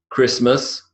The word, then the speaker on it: Christmas: Then we've got the T as in mortgage, Christmas, whistle, and often.